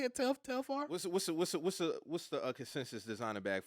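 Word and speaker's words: Telfar: That's how you say it, Telfair.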